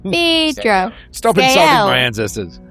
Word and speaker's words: Phaedra: You're pronouncing it wrong. Phaedra.